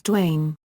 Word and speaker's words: Dwyane: His first name is pronounced the same as the more common spellings Dwayne and Dwayne.